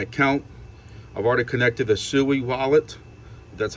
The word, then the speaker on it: Sui: and created my account I've already connected a sui wallet that's how you pronounce it it's and the wallet I'm using